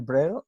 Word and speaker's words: Brühl: Dice, a propósito de una entrevista a Daniel Brühl, Brühl se dice, ¿no?